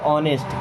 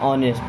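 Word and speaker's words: honest: with you अब देखिए इस वर्ड में एच साइलेंट होता है इसको नेस्ट नहीं पढ़ते ऑनेस्ट क्या पढ़ते हैं ऑनेस्ट देखिए ऑनेस्ट मिस होता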